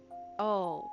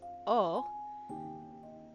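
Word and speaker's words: を: um about how wo is often pronounced as O.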